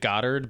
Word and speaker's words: Goddard: is directed by Drew Godard I'm assuming it's Godard I think he might pronounce it Goddard but who cares you should pronounce it Godard I I believe it